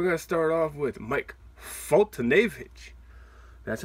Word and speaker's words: Foltynewicz: luck so we're gonna start off with Mike foltynewicz that's how you say it Mike for today